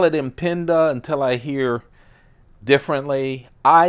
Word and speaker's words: Impinda: Reeve son told them how it should be pronounced I'm gonna call it in pinda until I hear differently I am P I